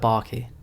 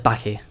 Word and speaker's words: Baki: I was little, so sometimes I say stuff a bit posh, like barky, but I know it's baki, so I'm gonna try to say it like baki, but like, and that's not really important.